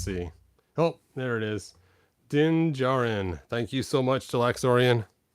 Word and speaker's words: Din Djarin: Din Djarin.